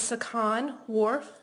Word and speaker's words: Sukhan Warf: jury your name good morning my name is sakan Warf that's spelled s u k h an Warf w